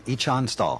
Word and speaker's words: Ichan Stall: It's on Echon Stall. Ichan Stall and Jeff Murphy. I can pronounce that one all by myself.